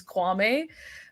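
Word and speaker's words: Kwame: want but like I I've heard the proper pronunciation is quame uh it's a ganian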